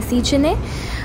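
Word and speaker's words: Széchenyi: इसका exact pronunciation है सीचने, और आप इसको डैन्यूब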